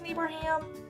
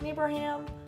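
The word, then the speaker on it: Neighbourham: was Miss neighbour ham trying to pronounce that all year miss me bruh ham its neighbour ham it was so weird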